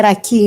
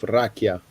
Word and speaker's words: rakia: e come raki in Grecia. Oh Yeah. yeah, almost like. How do you pronounce rakia?